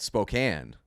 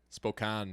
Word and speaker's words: Spokane: coat when I hit Spokane. So like cocaine in Spokane.